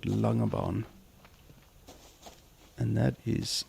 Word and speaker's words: Langebaan: see a little town in a bay called Langebaan, and that is spelled Langebaan. Langebaan.